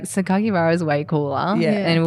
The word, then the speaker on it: Sakakibara: Sakakibara? It's pronounced the way it's spelled. Yeah. So if you just break it up into syllables, and that's what Japanese is, it's all like syllables.